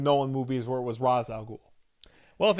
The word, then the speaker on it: Ra's al Ghul: And they pronounce it Ra's al Ghul. And like that's the way most people pronounce it up until the Nolan movies where it was Ra's al Ghul.